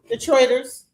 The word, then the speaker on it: Detroiters: Detroiters.